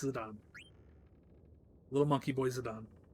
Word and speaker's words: Zidane: Everybody's been pronouncing it wrong, understandably. It's Zidane.